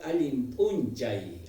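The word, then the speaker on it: Allin p'unchay: Se escribe punchau, pero nosotros en la pronunciación vamos a manejar Alimpunchay.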